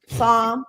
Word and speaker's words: Psalm: Psalm. Oh, no, that was Proverbs. 37:14. Look. The P is silent.